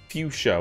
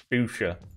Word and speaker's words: fuchsia: beer wine and spirits fuchsia what a weird way to say that that is how texans pronounce it um i do not